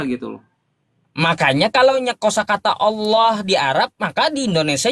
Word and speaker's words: Allah: ALLAH, maka sebagai orang Indonesia kita membacanya Allah.